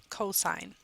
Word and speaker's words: cosine: different pieces to identify the sign versus the cosine please don't say C okay make sure that you pronounce it correctly it should be cosine even when it's abbreviated cosos the last one